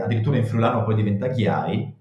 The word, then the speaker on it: Ghiai: Ghiai è scritto con la I lunga, G, I, in friulano si legge Ghiai.